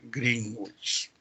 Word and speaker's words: Greenwich: estoy ya sabes que la correcta pronunciación es greenwich ahora y eso por